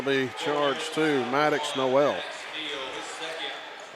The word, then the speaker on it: Noel: be charged to Maddox Noel a Neil he's pronouncing it Neil it's on our rosters as no else so our apologies to